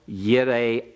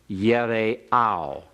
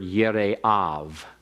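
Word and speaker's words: יראיו: Grisanti students and visiting this morning, you'd pronounce that last word Yire'av. All right, it'd be a V for the vowel on the end, using the modern Hebrew pronunciation.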